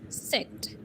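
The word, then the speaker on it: Zett: example yoga and later Z is called as सेट सेट clear clear okay now what happens when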